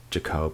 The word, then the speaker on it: Jacob: and jack mono now these two scientists are french scientists so just go with the expression of their surnames as jacob and manau even though it may not look like they're pronounced that way these two scientists performed